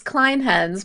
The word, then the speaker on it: Clinehens: how do we pronounce your name, and tell us all about you? It's Clinehens, but don't worry because nobody gets it right. I usually get Clinehens.